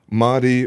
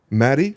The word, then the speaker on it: Mahdi: The people demanded more Matt Rostami, or Mahdi Rostami Zada, or Zada. Is it Zada or Zada? It's actually pronounced Mahdi. Mahdi? Mahdi. Mahdi. Sorry. No khe. It's a soft H, actually.